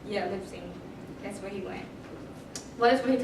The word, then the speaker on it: Leipzig: Leipzig? Yeah, Leipzig.